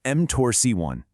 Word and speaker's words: mTORC1: That's pronounced mTORC1.